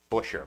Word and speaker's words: Buescher: Come fight us for the correct pronunciation of Busher.